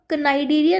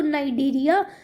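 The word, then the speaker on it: Cnidaria: इसको आप नाइडेरिया नहीं प्रोनाउंस करोगे, इसको नाइडेरिया, और यू कैन से सीलेंट्रेटा।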